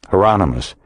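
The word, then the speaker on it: Hieronymus: how you say that heronimus rhymes with Anonymous heronimus isn't there a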